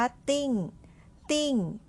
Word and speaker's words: 订: เท่า นั้น เอง ค่ะ คำ นี้ อ่าน ว่า ติ้งติ้ง พินอิน นะ คะ เสียง ที่ 4 วาง ไว้ บน ตัว I ค่ะ ออก เสียง แบบ นี้ ค่ะ เตอร์ อิงติงติ่ง ติ่ง เสียง ที่ 4 นะ คะ เตอิ้ง มี หลาย ความ